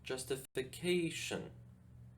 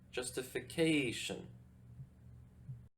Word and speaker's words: justification: is in this work the stress goes on the fourth syllable justification justification now that we've taken